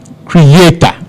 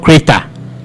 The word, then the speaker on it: creator: Same way we have creator, not creator. Creator.